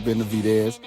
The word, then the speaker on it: Benavidez: Yeah, I got to say it right this time, David Benavidez.